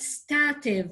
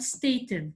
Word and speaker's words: stative: in the present progressive some verbs are called stative or if you want stated both both pronunciations are correct some verbs are called